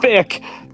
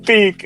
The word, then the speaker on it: Bic: Is B-I-K, like the words tick, tick, or quick. Thank you! Yes! I'm wrong. Yes! Thank you, Grok. Thank you. It's a single syllable with emphasis on Bic.